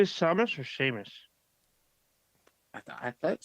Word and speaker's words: Seamus: Yeah, Seamus.